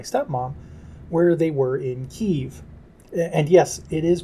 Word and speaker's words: Kyiv: This is how the city is pronounced in Ukrainian.